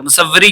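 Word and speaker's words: مصوری: मुसव्वरी का मतलब होता है, मसूरी नहीं, मुसव्वरी का मतलब होता है तस्वीर बनाना, ठीक है। सॉरी, मैंने गलत प्रोनाउंस कर दिया, मसूरी कह दिया है, मुसव्वरी होगा यहाँ पर, ठीक है, जिसका मतलब होता है तस्वीर बनाना।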